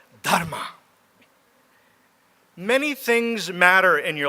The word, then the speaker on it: Dharma: they called it Dharma you have to roll your R's to pronounce it right Dharma many things matter in